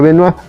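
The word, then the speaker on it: Benois: Noa de la danza se escribe benoid y se pronuncia venuir tenemos carteles de distintos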